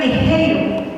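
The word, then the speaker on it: ἐγείρω: el griego levantados y en el griego se pronuncia ejiro es levantarse fíjate levantarse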